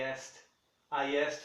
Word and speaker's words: asked: Esse E não acontece também. Não pronuncia. Esse D vai soar novamente como aquele T do work. I asked for him.